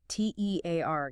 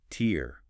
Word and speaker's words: tear: versus tear rhyming with hair or bear. That's the verb meaning to rip something like paper.